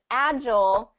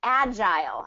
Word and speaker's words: agile: here's something interesting about this word is agile and agile i've heard both pronunciations and both are correct and actually when you